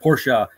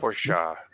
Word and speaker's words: Porsche: It's a German word pronounced Porsche. Yes, but we're the words. We're the ones changing it. We speak English, and that's our purview. That's our right. It's Porsche. what we're known for.